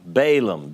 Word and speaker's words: Balaam: about this seer by the name of bilum balam b-a-l-a-a-m in english pronounced bilaam in hebrew and we talked about